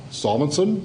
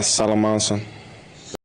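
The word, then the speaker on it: Salomonsson: had a debate because I've heard your name pronounced solmonson yeah I've heard it pronounced salamonson and salamonson what is the pro like if you're talking to people how do you say your name please sir uh salamonson all right salamonson we've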